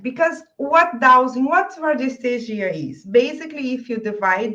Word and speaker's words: radiesthesia: In Portuguese, my pronunciation is radiestesia, Hmm. but in English is radiestesia, I Yeah. believe. Radiesthesia.